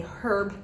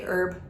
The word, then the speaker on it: herb: My kids went to British school for a while and they pronounce their H's, so they say herb and I say herb.